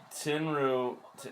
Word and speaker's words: Tenryu: Tenryu, is that how you say it?